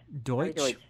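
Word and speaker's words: Deutch: How do you pronounce his last name? Deutsch.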